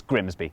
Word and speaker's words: Grimsby: but what if we told you it was pronounced no we'd be lying it's Grimsby oh but other places can be okay okay